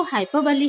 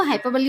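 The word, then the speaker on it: hyperbole: और इसका जो प्रोनाउंसिएशन होता है, करेक्ट प्रोनाउंसिएशन अगर अपन बोले तो हाइपरबोली होता है, ये हाइपरबोल नहीं होता।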